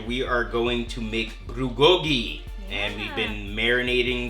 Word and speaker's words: bulgogi: So how bulgogi's made?